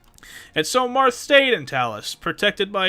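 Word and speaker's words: Talys: Marth lived and made it to the eastern isle of how to pronounce it again? Talus.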